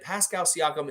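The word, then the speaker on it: Pascal Siakam: that's right charles barkley say his name over and over again pascal siacom until you get it correct say ogn and ob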